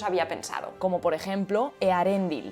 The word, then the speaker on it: Eärendil: Como por ejemplo Earendil. Hay que pronunciar la E y después la A y no hacer diptongo ni pronunciar otra vocal